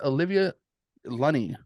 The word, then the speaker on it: Olivia Lunny: hidden beats and today we are talking with Olivia lunny if I pronounce that right you bet thank you yes